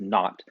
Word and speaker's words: naught: equal to one over four pi times epsilon naught this is a greek letter epsilon subscript zero pronounces not so i would say epsilon not and by